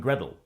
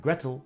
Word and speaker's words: Gretel: comes from hansel and gretel which is more like hansel and gretel in cockney pronunciation and gretel rhymes with kettle hansel and gretel is